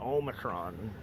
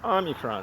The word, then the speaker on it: Omicron: couple years ago was uh the Omicron it's pronounced Omicron not Omicron a lot of people were calling it Omron and I'm sure a lot of people still call it Omron but it's Omicron that's how it's actually pronounced right and uh